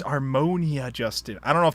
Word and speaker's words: Armonia: Yeah, Armano Justin. No, it's Armonia Justin. It's Armonia Justin.